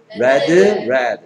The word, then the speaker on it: read: Read, red. EA의 발음이 바뀌는 거.